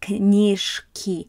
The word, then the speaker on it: книжки: We've got, on the next slide, we're going to have knishki. You don't pronounce this as a zh. You're going to do it as a voiceless.